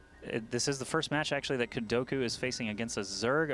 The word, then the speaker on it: KuDoKu: fight against the powerful GA.KuDoKu. The powerful. We're already terming him. He's powerful because his name rhymes with Goku. That's GA.KuDoKu.